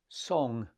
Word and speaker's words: song: So you normally see it written song, S-O-N-G, but it's pronounced song.